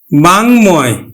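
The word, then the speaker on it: বাঙ্ময়: যুক্ত থাকার ফলে কিন্তু আমার এই ম ফলার উচ্চারণটা হচ্ছে হিরণময় এখন দেখো উম বাঙময় তাহলে উমর সাথে ম ফলা আছে এজন্য ম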